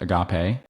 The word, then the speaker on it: agape: It's pronounced agape and it is in the NASB.